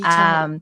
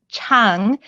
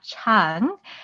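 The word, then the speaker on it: 창: But also I should mention that there is no hard A sound in the Korean language. So the second syllable is chang, like aha, chang, not chang like bang.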